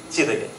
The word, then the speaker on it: Jidege: And so, I reached that utopic village of Chidege. It's spelled as Jidege, but this pronounced is Chidege.